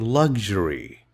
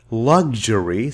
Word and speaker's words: luxury: Look, there are two pronunciations for this word. You can say luxury, sounds like g and j, luxury. This is the American pronunciation. You can also pronounce it as luxury, sounds like ka and cha, luxury. That's the British pronunciation.